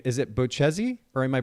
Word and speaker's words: Bocchese: So first of all, let's make sure we got your last name, the pronunciation correct. Was I close? Yeah, it's Bocchese.